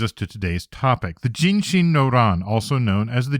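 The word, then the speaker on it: 壬申: Read together these characters can be pronounced ginshin hence ginshin noan.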